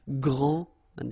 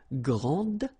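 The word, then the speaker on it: grande: final s okay so gr and then say same thing here and regarding the feminine form you will pronounce it Grand okay don't insist on the final but then pronounce this D Grand and then exactly the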